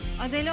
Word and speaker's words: Adele: Adele olmasın? Olabilir. Cahiller. Adele diye yazılır, Adel diye okunur.